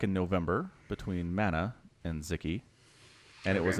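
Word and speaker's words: Sziky: Man, it was an amazing game between White Raw and a Hungarian player named Zicky, which is spelled S-Z-I-K-Y.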